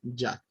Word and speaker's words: Yah: Y si va al final es Yud, Hei y se pronuncia Ya.